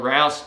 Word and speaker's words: Rouse: A lot of people know me as Rouse, rhymes with house. So I don't work with my wife anymore. We're still married, but we don't work together as a team selling. So Rouse, rhymes with house.